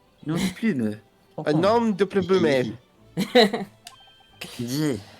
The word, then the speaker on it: nom de plume: If you want the correct pronunciation, is nom de plume. Non de plume.